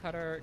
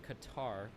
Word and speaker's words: Qatar: War interesting um destiny stop saying cutter just say Qatar it's so cringe it's like a white person saying Mexico cutter I'm pretty sure qar